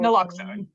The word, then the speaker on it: naloxone: administration and provided and I'm not going to pronounce this correctly it's the name of a drug n-a-l-o-x-o naloxone thank you we have started to discuss the